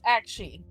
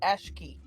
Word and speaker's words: Aqshy: It is AQSHY. So it's Akshi, not Ashki. Hey. You know that I who's the don't GM? pronounce things correctly. I'm just waiting for like Actually, I've been calling it Ashkey. I didn't realize it was Akshi, so I'm going to be calling it that from now on.